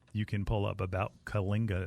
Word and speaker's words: Kyllinga: Again, it has a whole section of that you can pull up about Kalinga. It's spelled Kyllinga.